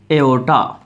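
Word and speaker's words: aorta: बोलते हैं तो सर उसको बोलते एओटा एओ आर टी ए आज साइलेंट रहता है तो क्या बोलते है एओटा किसको सबसे बड़ी आर्टरी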